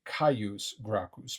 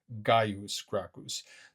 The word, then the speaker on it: Caius Gracchus: English G sound, whereas I'm pronouncing it often with a C sound. I say Caius Gracchus, but you may read on your own in some other source Gaius Gracchus.